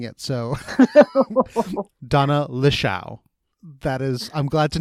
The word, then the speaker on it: Lichaw: it for me sure my last name is Lee Chou it's I've had friends since kindergarten who can't pronounce it and it it's totally okay yeah that's not how I've been saying it so Donna Lee Xiao that is I'm glad to know how to